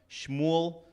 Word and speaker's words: Shmuel: From the tribes of the sons of Shimon, Shmuel, the son of Ammihud. I appreciate that you pronounced Shmuel correctly.